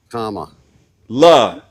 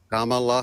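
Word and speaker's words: Kamala: like in the punctuation can you say comma that way comma La comma La Harris thank you Tim I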